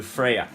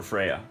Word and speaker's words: Freya: is a poem to Freya. It's spelled Freja, but I call her Freya, and she is the Norse goddess of love.